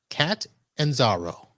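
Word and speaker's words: Catanzaro: So, Cat and Zaro. There it is. It's the capital city of Calabria, Marv. If you ever forget it, just pull up a map of Italy.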